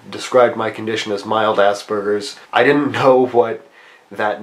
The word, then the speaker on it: Asperger: I don't know but Asperger is much closer to the actual German pronunciation since dr. Hans Asperger who it's named after was from Austria but what does this